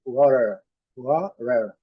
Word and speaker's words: water: Agora, o T soando como um R suave. Eu creio que um R, talvez até um D. Olha, vamos ver essa pronúncia aqui. Water, water.